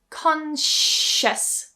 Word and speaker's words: conscious: Consious.